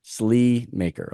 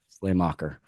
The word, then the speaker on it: Sleamaker: so that we know that s maker SLE maker okay see I would have butchered that one I would have butchered that one Slay Slay mocker yeah um so you